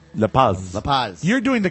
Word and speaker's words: La Paz: La Paz. Do you say the S? Yeah, well, you say the Z. La Paz.